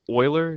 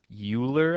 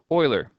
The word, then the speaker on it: Euler: English Euclid this however this name is coming from German so that is pronounced Euler and Leonard Euler was